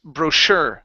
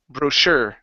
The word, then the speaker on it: brochure: right good okay uh this word here is pronounced brochure with the stress at the very end brochure brochure okay very good BR